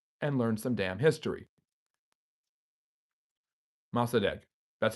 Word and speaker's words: Mossadegh: Mossadegh. That's how you pronounce his name.